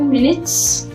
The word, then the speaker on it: minute: So same spelling, M-I-N-U-T-E, but the pronunciation is changing.